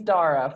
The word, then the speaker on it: Daragh: We start with my guest telling us his name and how to spell it. Daragh. There's only one Daragh, but yeah, just Daragh.